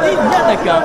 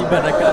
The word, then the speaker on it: Iñanaka: Il s'appelle Iñanaka, pas Ibanaka, plutôt Iñanaka.